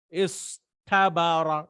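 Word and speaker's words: اصطبر: So, but we cannot say this ta, right? Because it's so difficult to pronounce. So they change this to a ta.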